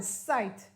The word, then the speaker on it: sight: a shower outside then i told you that i g h sounds like i you don't pronounce the g and the h it's a long i sound plus the letter t and then we read